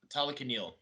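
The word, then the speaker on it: Talokanil: But Tala Talakanil with like yeah. So it's Talakan and then il at the end.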